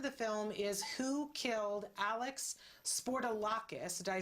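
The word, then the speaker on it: Alex Spourdalakis: the name of the film is who killed alex sportolakis did i say it right that's that's absolutely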